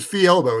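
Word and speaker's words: Fjelbo: Like you pronounce it Fielbo. It's Norwegian. It's like the fjords of Norway. It's like F-E, the FJ makes the E sound, fee, and then elbow, like your elbow.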